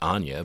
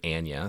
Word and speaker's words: Anya: Margo Mills played by Anna Taylor Joy which I also pronounced incorrectly at first pronouncing it Anya but I guess you know her she herself pronounces it Anna so she's in